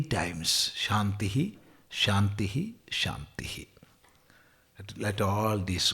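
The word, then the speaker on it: शान्तिः: And how to pronounce that, you see, we can pronounce like this, Om Shantihi, Shantihi, Shantihi.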